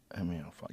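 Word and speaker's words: Eme Alfonso: Emmy Alfonso.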